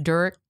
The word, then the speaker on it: Derek: And it's pronounced Dirk. It's Dirk.